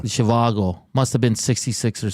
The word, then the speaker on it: Zhivago: Zhivago. Zhivago.